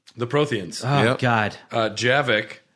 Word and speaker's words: Javik: Yavik, it's Javik. I know it's Javik, but You call him Yavik? yeah, I call him Yavik. You like the because Hispanic my name flair? is Stoyan. J pronounced like a Y.